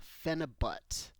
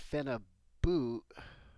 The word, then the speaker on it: phenibut: talking about a substance called fenna but and it might actually be pronounced fenna boot or even maybe a little bit different I'm not exactly sure but since I like